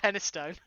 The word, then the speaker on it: Penistone: Rabelais, How many times do I have to pronounce that with a British accent to tell you that it's pronounced Penistone, not the way you think it's pronounced?